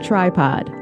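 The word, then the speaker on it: Trypod: That's ty p o d with a capital T and that rhymes with P. And you know what that stands for? Podcast. # tripod.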